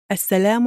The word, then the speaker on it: السلام: The word salam peace starts with an S, which is a harf shamsi. That's why we do not pronounce the lam and we put a stress on the S.